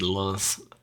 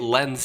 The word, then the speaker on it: Lens: Shout out to Galatasaray and RC Lens. I don't know how you say it. Lens. You would say it Lens, but you don't pronounce the S, so it'd be Len.